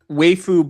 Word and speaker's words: waifu: What is wu? I'm just What the I mean, waifu. Yeah, it's pronounced waifu. Sarah, get it right.